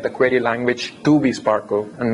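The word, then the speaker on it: SPARQL: or owl it's called Sparkle it's spelled as s-p-a-r-ql but people call it Sparkle and it's a reverse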